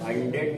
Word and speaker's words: honored: noble cost, they are honored by everyone, they are honored, honor नहीं लिखा, 100 लिखा, नहीं honored, they are honored, they are honored by अच्छा एच वो रहेगा ना कोई साइलेंट, everyone, honored, हाँ everyone है ना।